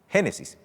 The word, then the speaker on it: Génesis: refiere específicamente a la atmósfera al cielo atmosférico génesis 11 es el principio de todo curiosamente en el idioma griego la palabra génesis se dice exactamente así génesis y significa principio a su vez la palabra